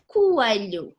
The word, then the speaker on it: coelho: 2 vowels together, but they actually in different syllables. Like for example, coelho, which means rabbit.